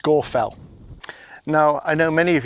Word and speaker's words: Scafell: of people would say Scarfell Pike and Scarfell. But they would in fact be incorrect. It's actually pronounced Scorfell.